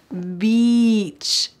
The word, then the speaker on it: beach: the pool beach beach make sure this has an e sound beach beach some people love